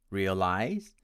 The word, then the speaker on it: realize: l i z e my friends from india tend to pronounce it as realize realize with stress on the second syllable and my american friends will pronounce it as realize realize with stress on the first syllable our fourth word is